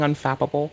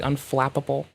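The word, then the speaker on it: unflappable: It's not fapable. It's flappable. Here, I got you. Cuz I keep saying unfapable when I mean to say unflapable.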